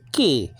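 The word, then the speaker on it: כִּי: Now this is a conjunction in Hebrew ki, and that's kof. It's an opposite C-looking letter, but it's actually not a C. It's a K.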